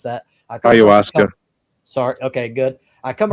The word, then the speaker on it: ayahuasca: people that took, I don't know how to pronounce that. Ayahuasca.